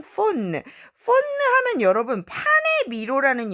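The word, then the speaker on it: faune: 예, 프렐루이드 라프레미디 덩 폰느. 폰느 하면 여러분 판의 미로라는 영화 알죠? 거기서 나오는 반인반수 그 판을 말하거든요. 폰느라고 발음합니다.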